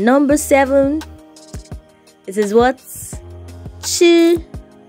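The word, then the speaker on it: 七: leave for my voice it's a flat tone and then it's pronounced here it's flat it's not falling and it's not rising it's just there it's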